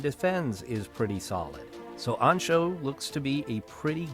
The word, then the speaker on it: Anxo: probably right is uh galician pronunciation galician is a language that's spoken in part of spain and it said it's pronounced ancho and it means angel so ancho that's what i'm going